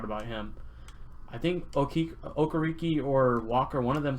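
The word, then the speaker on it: Okereke: a colts fan and he always murders me for pronouncing this guy's name but bobby okariki i believe is how you say it um he showed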